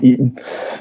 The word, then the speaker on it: Itten: friday night so i'm not too sure whether it's eaten or written a swiss friend told me it was eaten um but he should